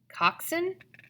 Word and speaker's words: coxswain: row a straight course you need a coxswain Coxon I repeated the word as he pronounced it the person who guides